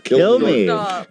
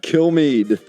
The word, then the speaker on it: Kilmeade: It's Kilmeade. Kilmeade.